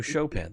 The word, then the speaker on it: Chopin: Oh, Chopin, thank you. Jay corrected my pronunciation. Thank you. Chopping broccoli. That's what I always think of when I see Chopin spelled out.